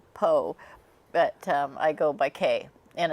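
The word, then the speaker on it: Caye: My full name is Poe, but I go by Kay, and it's spelled C-A-Y-E.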